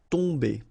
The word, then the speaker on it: tomber: it does mean that this combination of om will give you the sound on. Okay, you don't pronounce the m at all, so it's really a nasal, so it goes in your nose. Tomber.